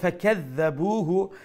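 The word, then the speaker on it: فَكَذَّبُوهُ: ও যে ফাকাযাবুহু, এই যে কাফ, এই কাফটা কি চিকনি না মোটা? জি ছোট কাফ। ছোট কাফ মানে নক্তা ছাড়া যে কাফ, এটা হলো কি ছোট কাফ, অর্থাৎ এমটি মাউথ কাফ।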